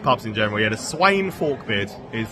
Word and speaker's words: Sweyn Forkbeard: Yeah, the Sweyn Forkbeard is how you say it.